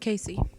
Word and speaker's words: KC: Collins famous pop idol known as KC stands for her nickname of her first KC and the C is from her last but pronounce as if they were just Casey she doesn't actively deny